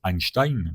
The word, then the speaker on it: Einstein: Euh alors, tu le prononces Einstein tout simplement.